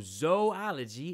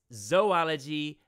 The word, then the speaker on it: zoology: study of zoos anyway please pronounce it with a long o sound that way you'll sound